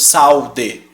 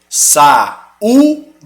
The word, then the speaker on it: saúde: ser uma vogal independente você não pronuncia os dois juntos saúde saúde Você fala muito bem